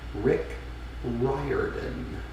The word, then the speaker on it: Rick Riordan: the name that aquamelon just spelled out is pronounced rick riordan no yes it is i've been saying that